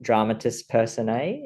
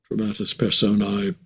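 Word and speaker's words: dramatis personae: So, I don't have the probably the best pronunciation, but dramatist person A. Is that how you say it? Dramatus persona.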